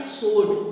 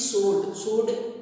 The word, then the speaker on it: sword: तलवार इज सोर्ड। देखिए spelling आपको इसकी SWORD जैसे दिख रही है, परंतु यहाँ पर W is silent, so the pronunciation is सोर्ड means तलवार।